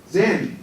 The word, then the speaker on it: Zen: Zen. See, Japanese Buddhism is known as Zen Buddhism, and it's their pronunciation.